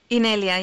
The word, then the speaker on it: Inelia: Am I pronouncing that right, Inelia? Inelia, yes.